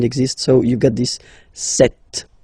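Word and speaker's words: sept: Then here remember b is not pronounced. Okay. It doesn't exist. So you've got this set sound.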